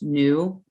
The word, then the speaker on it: nu: this little cursive v shape and this is pronounced new n-o-o it's defined as the number of cycles